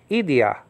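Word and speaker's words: ἰδίᾳ: individually so he works in an individual basis idia Ida actually ID the cute markers on the second syllable i d i a or Iota with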